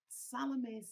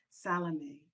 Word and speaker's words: Salome: before I begin that I refer to her as Salome. You're absolutely correct in your pronunciation of her name. That would be the classical pronunciation. But in South Africa, we tend to squash our vowels.